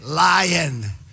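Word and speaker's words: lyin': I nicknamed him lion I say lion how would you spell that ly Ian lion with a big apostrophe but you know you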